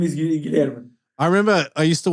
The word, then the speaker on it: Guilherme: So Yeah, but my real name is Guilherme. Actually, my real name is Guilherme. Yeah, They call me. Like William, and they call Will or Bill, something in English. So my real name is Guilherme.